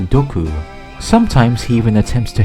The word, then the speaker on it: doku: As a pun, it's often written as poison man since both single and poison are pronounced dku.